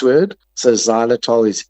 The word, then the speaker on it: xylitol: Uh, one of my personal favorites is a sugarfree xylitol gum. So, I I like Orbit Professional. It comes in a little tub, a little jar, or any sugar-free gum, but especially if it's got xylitol.